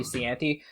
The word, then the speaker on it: Cianci: about the political career of Providence Mayor Buddy Cianci. Did I pronounce that right? Hope I did. Cianci, yeah, Cianci.